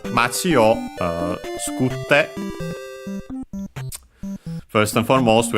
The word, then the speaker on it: を: low, machi o, machi o, machi o. Particle which is o, written as wo and pronounced as such in careful speech and also singing, and yeah, it's the object particle.